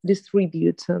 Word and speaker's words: distribute: Distribute, на другий склад наголос, да?